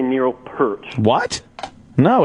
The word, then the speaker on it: Peart: Peart's like ear. The ear.